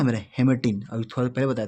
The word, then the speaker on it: hematein: ये क्या है, हीमेटिन, और ये क्या है, हीमेटिन। दोनों को क्या पढ़ेंगे, हीमेटिन ही पढ़ेंगे, बट अंतर क्या है स्पेलिंग में।